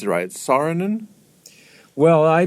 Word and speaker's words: Saarinen: Saarinen and that's how you pronounce rights Saarinen well I pronounce it sarin and because my mother pronounced it sarin and okay